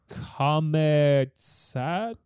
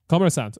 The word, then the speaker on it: Kommersant: This is from Comet Satney? Huh? How do you pronounce? Kommersatni. Kommersant. Okay, there we go.